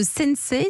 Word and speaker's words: Sensei: êtes le fondateur de sennecé ça se prononce comme ça s